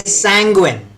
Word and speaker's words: sanguine: Now, say sanguine. Sanguine. Yep, that's the right way to pronounce this particular word.